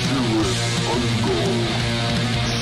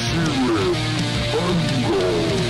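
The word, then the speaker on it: Cirith Ungol: The proper way to say our band name is Sirith Ungol. Sirith Ungol.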